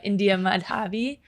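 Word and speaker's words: India Mahdavi: Is India Madhavi, I believe is how you pronounce her name.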